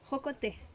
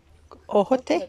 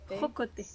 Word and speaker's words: jocote: Jocote. Ojote? Jocote.